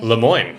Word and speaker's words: Lemoine: Lemoine. Stewart Nice memory. Lemoine.